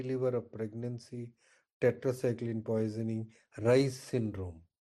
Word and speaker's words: Reye: This is seen in acute fatty liver of pregnancy, tetracycline poisoning, Rice syndrome. REYES is pronounced as RICE, Rice syndrome.